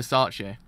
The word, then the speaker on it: Versace: I was like, was I mispronouncing it the whole entire time? Oh, I actually was. So it's Versace.